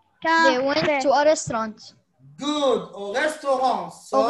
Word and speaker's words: restaurant: Yes, but we don't pronounce the T.